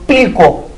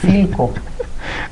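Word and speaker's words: Philco: Oiga, ¿y cuánto cuesta esta televisión Pilco? Pues cuesta tanto y no se dice Pilco, se dice Filco.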